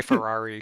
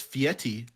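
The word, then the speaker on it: Fieri: do what would guy I always say guy Ferrari because I it's just it's easy I know that's not you know his name is actually like pronounced fiti which is weird because there's no te in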